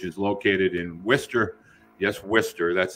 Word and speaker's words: Worcester: is low which is located in Worcester yes Worcester that's how it's pronounced uh Worcester Massachusetts uh being from Auburn